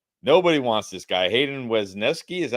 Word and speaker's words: Wesneski: Hayden Wesneski, is that how you pronounce it?